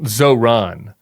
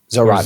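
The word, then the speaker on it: Zohran: And why do you say it Zoron? I I think it's Zoron. Is it where do you put the emphasis on? I think you're putting the emphasis on the wrong syllable.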